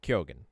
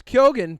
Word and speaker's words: Keoghan: That's the Gaelic way, the proper way. However, if you're American, right, you can, because we make those hard G's, you can say Keoghan, right? So there's Keoghan, but it's Keoghan.